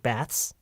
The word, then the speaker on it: baths: would never say that because bats is bad saying baths is correct okay um you you